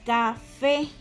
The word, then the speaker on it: café: Entonces, acá tenemos la palabra café. Café, ¿sí? Donde recae la tilde, y aquí lo tengo subrayado, y es en la última sílaba, que es fe. Café. Por ende, esta es una palabra aguda, porque si la sílaba